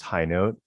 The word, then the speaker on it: Hinote: ever high note yes it is pronounced high note oddly enough though for